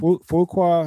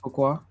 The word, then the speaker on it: Fuqua: Is it Fukuqua? How you pronounce it? Yeah, Fuqua.